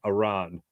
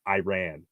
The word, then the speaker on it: Iran: be clear on this it's Iran not Iran and um the player